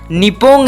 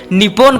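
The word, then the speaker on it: 日本: अगर आप इसे इंग्लिश में लिखा हुआ देखोगे तो आप इसे निपोन करके प्रोनाउंस करोगे, लेकिन असली प्रोनाउंसिएशन इसकी निपो होगी।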